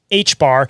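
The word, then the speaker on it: ħ: The symbol for the reduced Planck's constant, pronounced H-bar, is the same symbol used for Saturn in both ancient astrology, alchemical, and modern astrological traditions.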